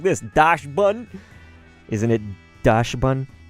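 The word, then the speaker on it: Dachsbun: dash button isn't it Dash bun right kind of like dachshund could be Doc's button but I think it's when you say it like that Dash Bund so anyway uh torko we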